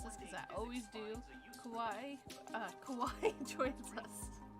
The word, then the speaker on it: Kowai: Kowai joins us. No, that was good. It's just Kowai, yeah.